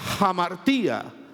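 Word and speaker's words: ἁμαρτία: Hay una palabra griega que se pronuncia hamartía.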